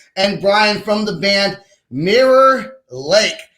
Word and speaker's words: Mirror Lake: up i'll be like mirror lake especially from texas so like that's that's this is got that draw yeah one syllable mirror lake mayor like so the band is